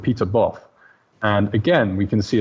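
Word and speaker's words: Pieter Both: do a quick Google this mountain is called Peter Boff and then SPI e ter and then the second word is both which is spelt both Bo th and you can see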